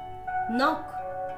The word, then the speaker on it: knock: K is not pronounced in these words. K cha uchchar ya shabdan madhe kela jat nahi. Knee, new, knife, night, knit, knock, knot, no, knowledge, knob.